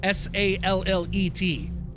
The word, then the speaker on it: Sallet: It's spelled Sallet, S-A-L-L-E-T, but I think it's pronounced Sallet.